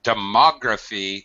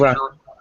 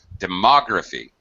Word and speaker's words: demography: And pronunciation of demography, second syllable stress. You pronounced it Demography. Yeah, you pronounced it correctly. You just missed the stress. Demography.